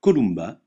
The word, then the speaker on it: Columba: Jaguar exemple Yam déjà le M se prononce me comme dans mulot jamais nasalisé comme dans emporté exemple Columba la colombe le N